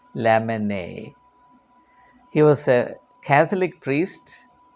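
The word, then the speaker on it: Lamennais: m e n n a r i s pronounced Lon he was a Catholic priest uh a monk so Abbe lemon uh he belonged to an aristocratic comparatively aristocratic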